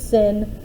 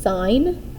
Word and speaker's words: sine: or pronounce them because i don't want you pronouncing these as sin or cosine or cos these this here is pronounced as sine theta c o s stands for the word